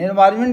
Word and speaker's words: environment: एनवायरमेंट में क्या होता है, एनवायरमेंट, एन साइलेंट रहता है लेकिन एन लिखा जाता है।